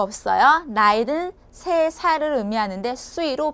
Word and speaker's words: 岁: 나이는 3살을 의미하는데 수이로 발음을 하시면 돼요.